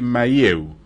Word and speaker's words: Mahieu: Jacques de Mailloux se escribe, Mahieu.